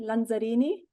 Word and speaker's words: Lanzarini: My name is Lanzarini. So Perfect. that's the right way, of saying it, pronouncing it.